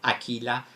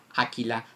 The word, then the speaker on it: Aquila: is right pronunciation of Aquila Aquila Aquila o is pronounced it's not French it's not English uh the U is pronounced uh means Eagle Eagle